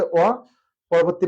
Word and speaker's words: অপূর্ব: শুরুতে যদি দীর্ঘ উকার থাকে তাহলে মানে প্রথম বর্ণের পরের বর্ণটা যদি উকার থাকে তাহলে দেখা যাচ্ছে সংবৃত উচ্চারণ হবে অপূর্ব।